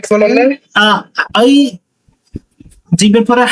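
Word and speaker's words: جيم: জিম জিমটা জিহ্বার মাঝখান চেপে উচ্চারণ হবে।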